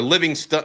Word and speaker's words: Livingston: is proper pronunciation of his last name, even though it looks like Livingstone, is Livingston.